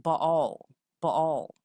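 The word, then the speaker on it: Baal: video I did previously we know that bail was actually pronounced ball-ball to the Sun so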